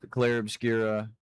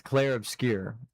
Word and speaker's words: Clair Obscur: driver right now because Claire Obscura or Clare Obscure. I don't know why I keep keep saying Claire Obscura. It's Clare Obscure Expedition 33. I've been pronouncing it wrong, but that I mean